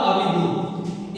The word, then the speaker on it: अभिभूत: जैसे प्रेम हो गया, अब है अभिभूत अ भ ह्रस्वीकार भ दीर्घकार त, ये क्या हुआ अभिभूत।